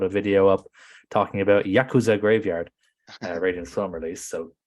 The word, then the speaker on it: Yakuza: It's kind of like we talk about Yakuza.